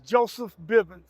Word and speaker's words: Joseph Bivins: you could you just say your name and spell it out for us one time my name is Joseph Biven Joseph J o e pH Biven b i